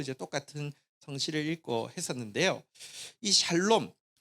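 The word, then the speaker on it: שלום: 단어 평강이라고 한번 따라가겠습니다 샬롬이 좀 히브리어 발음으로 좀 비슷하게 하면요 한번 따라가겠습니다 사롬 근데 여기 어 형제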